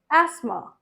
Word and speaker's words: asthma: बहुत लोग बुलाते हैं asthma. Asthma or asthma. It's not this, it's asthma.